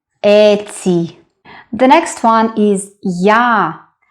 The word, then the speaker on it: я: The next one is я. It's similar to a, but we start with y sound.